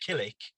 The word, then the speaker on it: Kilnwick: on the map is a village called kiln kilnwick or pronounced kilik uh and that's where